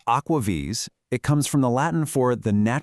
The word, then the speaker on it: AquaVis: It's pronounced Aquaves.